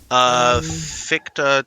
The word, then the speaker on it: Fichte: Well, I think it's Nadia, Fichte. Ficht. Just one syllable.